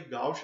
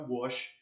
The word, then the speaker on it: gauche: Eu falei gauche a graduação inteira, eu vim descobrir há pouco tempo que era gauche. Mas tá, fala gauche, é gauche, tá? Conformação gauche, mas se escreve gauche.